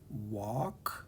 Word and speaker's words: walk: It's called the yolk, and it has this silent L, kind of like walk has a silent L, or talk has a silent L.